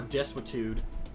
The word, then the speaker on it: desuetude: Word I've never seen before, desuetude, and unskillfulness. Time to look it up. It's spelled like desuetude.